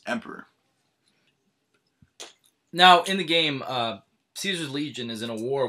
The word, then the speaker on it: Caesar: Members of the Legion pronounce its name in the classical Latin way with a hard C sound. This resembles the German word Kaiser, which means emperor. Now, in the game, Caesar's Legion is in a